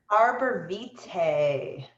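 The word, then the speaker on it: arborvitae: Pronounce that one for me, Monica. The first one. Arbor Vitae.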